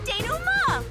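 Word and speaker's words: dénouement: Time for the deduction denouement. Denouement, that's how that one's pronounced.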